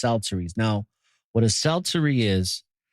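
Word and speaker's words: psalteries: instruments of music and Celtics that's how it's pronounced salsaries now what a celtzuri is is basically an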